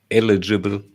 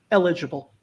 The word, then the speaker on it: eligible: thomas eligible thank you wrong pronunciation probably martial right i actually had trouble hearing you eligible eligible uh you're close close here also a bit more emphasis on the second one you can take the